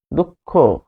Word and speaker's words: দুঃখ: যেমন দুঃখ দুঃখ উচ্চারণটা হবে দুঃখ। দুঃখ।